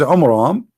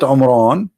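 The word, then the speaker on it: Amram: the father of Moses which is AMRAAM not Imran Imran wrong a wrong name I mean have you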